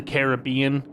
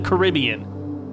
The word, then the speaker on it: Caribbean: sound like a fool it's Pirates of the Caribbean not Pirates of the Caribbean you sound like a sound like a man words can't describe what you sound like just don't just don't say it like that it's Caribbean and also it's caramel it's